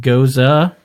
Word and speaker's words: gose: A geuze, pronounced geuze, is a historically German refreshing wheat beer that is only slightly tart.